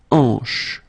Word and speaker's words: hanche: Remember, H here is not pronounced, so you get the sound en, hanche at the beginning.